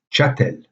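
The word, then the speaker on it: chastel: prenait plus prononcé donc la prononciation correcte de ce mot en ancien français au 12e 13e siècle sera chatel sans le s même s'il s est toujours présent dans la graphie puis finalement nous avons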